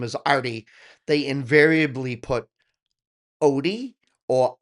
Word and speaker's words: Artie: My name is Arthur, and I go by Artie. But when I lived in Brazil, people saying Artie, it came out Archie.